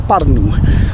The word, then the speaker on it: Pärnu: I'm going to say you pronounce it Pärnu.